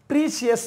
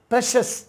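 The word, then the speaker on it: precious: பிஏ வந்து நல்லா அழுத்தமாக உச்சரித்து சொல்லுவோம். ஆக்சுவலி ப்ளம்பர் அப்படி தான் சொல்லணும், ப்ளம்பர். பார்த்துறீங்களா? இன்ன பாருங்கள், அடுத்து பாருங்கள், ப்ரீஷியஸ் அப்படின்னு சொல்லுவோம். ப்ரீஷியஸ்னால் விலை மதிப்பற்ற, விலை மதிப்பற்ற அப்படின்னு அர்த்தம். இப்போ பாருங்கள், ப்ரீஷியஸ் சொல்லக்கூடாது, ப்ரெஷஸ்.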